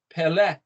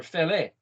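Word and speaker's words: פלא: Well, it doesn't say EO, it says, in fact, Aleph is silent, so it says Pele, or Fele.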